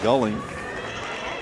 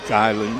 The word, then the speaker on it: Geiling: I've been pronouncing his name Gulling, but with the spelling, I've been informed that the correct is Geiling, and I hope to have that completely corrected by the second half.